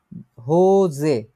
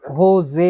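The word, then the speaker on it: Hose: এটা দেখে বুঝতেছেন নাকি এটা মানে কি হোজা হোজে না এটা কি যে উচ্চারণ হবে না যা উচ্চারণ হবে না এটা হোজে উচ্চারণ হবে হোজে এই দেখেন এখানে পুং দিয়ে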